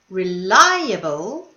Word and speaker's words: reliable: syllable this one however reliable is the second syllable not the second last reliable and here was the